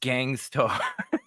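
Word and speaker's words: Gang Starr: by Pepsi Phil supports England halfway Esquire it's pronounced Gangstar yo rest in peace to Gangstar yeah Gangstar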